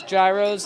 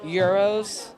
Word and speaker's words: gyros: yeah fun fact well Americans pronounce gyros as gyros with the G but you're actually supposed to pronounce them euros with the G silence